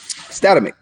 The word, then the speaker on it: Statamic: I don't know how to pronounce Statamic. How do you pronounce it? Statamic.